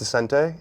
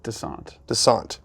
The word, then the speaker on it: Descente: I thought it was Descente. It's not. How do you pronounce it? Descente.